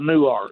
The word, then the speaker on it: Newark: Well, that's way you that's way you spell it, but I live in Texas, so it's called New Art.